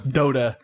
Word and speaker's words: Dota: Oh, Dota? Dota. Oh. Like, yeah. Like Dota. Goaty.